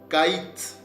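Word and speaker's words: קַיִץ: Après, nous avons, on dit que ce mot-là, regardez, dans ce mot-là, Édom le prononce Kaït, ok, Kaït.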